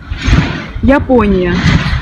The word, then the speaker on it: Япония: On peut le retrouver notamment dans le mot Japonia, Япония.